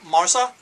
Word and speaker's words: marsa: And am I pronouncing that right, Carolyn? Marsa? Yes, Marsa.